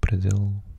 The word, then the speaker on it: Brasil: So Brazil, Portuguese pronunciation Brazil.